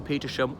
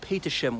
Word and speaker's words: Petersham: The other thing is, usually these HAM endings in British place names, the H is silent, as in Birmingham, Fulham, Balham, and there's so many more. But Petersham, we possibly bastardized it to Petersham rather than Petersham.